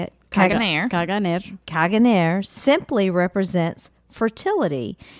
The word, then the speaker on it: Caganer: Caganer.